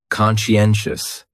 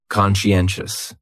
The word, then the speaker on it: conscientious: And the stress is on that third syllable. Conscientious. That second syllable is what really confuses people because that sigh almost sounds like you're saying she. Conscientious.